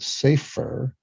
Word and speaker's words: Saifr: One was called Safer, which is spelled SAIFR, which uncovers potential risks in client communication.